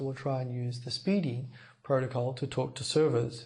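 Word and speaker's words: SPDY: Now, first of all, this protocol called Speedy, Spy, pronounced Speedy.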